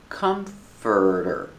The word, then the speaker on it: comforter: is a comforter pronunciation comforter comforter this dress is on the first syllable it's three syllables Comfort or comforter this